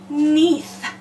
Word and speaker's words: neath: Neath. We hear the E and the A is silent.